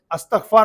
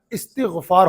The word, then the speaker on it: استغفار: وہ بنا ہے استغفار۔ تو کچھ لوگ استغفار پڑھتے ہیں، تو اگر ایسے کچھ لوگ مجھے سن رہے ہو تو وہ اپنا یہ تلفظ درست کر لیں، استغفار نہیں ہوتا ہے، استغفار ہوتا ہے۔ استغفار کے بارے میں